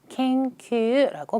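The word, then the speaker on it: 研究: 오른쪽 제가 바로 앞에서 예제 드렸던 것처럼 영구는 켄큐라고 발음이 될 겁니다.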